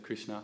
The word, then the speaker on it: Krishna: an approval we're saying particularly with the short a on the end of Krishna not the long a which is a long way with Krishna is indicating Draupadi so yeah - fair